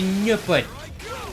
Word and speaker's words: Nopon: I just started saying Nopon. It's meant to be Nopon. Nopon. The Nopon. The Nopon. I agree with the original's pronunciations.